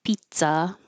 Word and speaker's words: pizza: And I usually explain the pronunciation of pizza for American English. There's no Z sound. It sounds like pizza.